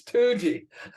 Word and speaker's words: Toogee: It's Toogee.